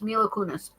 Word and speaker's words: Mila Kunis: I think is how it is spelled. Yes, it's Mila Kunis.